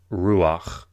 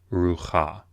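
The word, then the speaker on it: רוּחַ: of the fete but you pronounce this Ruach Ruach not ruh ha so there are rules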